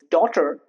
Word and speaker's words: daughter: For example, daughter here G and even H is silent.